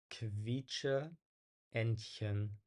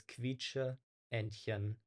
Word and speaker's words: Quietscheentchen: So it's basically, it sounds like there's a W sound after, right? Like kv, quietsche, Entchen. Okay. And also the E sounds, there are two E's here. They're pronounced separately, right? It's not like a long E sound, but it's quietsche, Entchen. Okay, it's a different syllable.